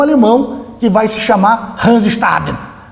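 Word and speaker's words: Hans Staden: que vai se chamar Hansestaden. Ô, professor, mas por que você falou assim? É que alemão é assim, né? A gente tem que falar, pronunciar dessa maneira, Hansestaden.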